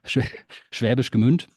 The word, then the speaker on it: Schwäbisch Gmünd: So you were born in eastern Baden-Württemberg in a town called Schwäbisch Gmünd. Is that my pronunciation Yes. close enough? Yeah, Schwäbisch Gmünd.